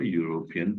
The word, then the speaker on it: European: Look at here, EU, U sound, bilabial, U, and U. We call it bilabial sounds. When you will pronounce these words, both the lips will come forward.